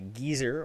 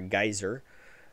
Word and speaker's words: geyser: you want to say find a gezer or a geyser as we pronounce over here on this side of the pan Pond uh or ruins or